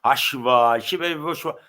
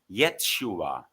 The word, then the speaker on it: Yeshua: So Jesus Christ, his name wasn't Jesus or Yahshua or whatever, Yeshua. They all try to avoid the letter T. Yeshua, Ashua. No, Yeshua was his name.